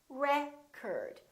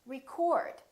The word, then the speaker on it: record: If it's a verb, this word is pronounced record. I'd like to record my voice. In that case, the O is fully pronounced.